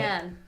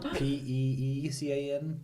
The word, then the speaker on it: pecan: pecan.